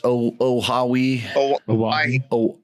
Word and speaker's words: Oahu: We sponsor the track, so it's Oahu. Oahu, almost like Hawaii.